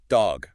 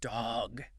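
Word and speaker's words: dhog: Dog, pronounced D H O G. D H O G. Dog.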